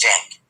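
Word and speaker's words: Cenk: And then the guys at TYT, Jenk, especially C N K is how you spell his name, but it's pronounced Jenk.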